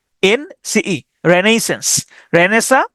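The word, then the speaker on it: Renaissance: আমি উচ্চারণ করি এরকম রেনেইস সানসে। রেনেইস সানসে সান এভাবে উচ্চারণ করতাম। তাহলে আরই এন এ আই রেনেই। রেনেইস রেনেইস আই এস এস এ এন সিই রেনেইসেন্স রেনেসা বা হচ্ছে নবজাগরণ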